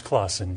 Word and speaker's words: Klassen: Klassen, am I pronouncing your name correctly? It's Klassen, yes. Klassen, okay, sorry.